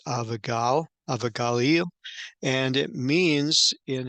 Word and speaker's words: Abigail: Abigail and of course we pronounce it Abigail but in Hebrew is avagal avagaleo and it means